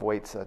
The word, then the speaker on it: waitsa: And they ask him to reveal the true path of waitsa to them. Now, waitsa is the Burmese pronunciation of the word vidya, in Pali, knowledge, or vidya in Sanskrit.